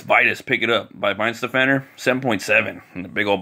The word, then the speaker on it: Weihenstephaner: I think it's pronounced Weihenstephaner, and the beer is called Vitus.